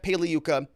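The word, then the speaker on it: Pagliuca: this it's in uh jeff paliyuka the g is silent like lasagna it's in their motion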